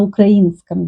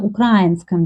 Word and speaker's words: украинском: Ukrainian person will make stress on и, на украинском языке. But Russian people make stress на украинском языке.